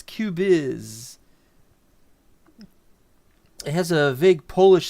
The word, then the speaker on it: Cubyz: I've heard some people calling it uh Cubix and Cubis. I've heard a bunch of things. They're all wrong. As far as I can tell, it's Cubiz.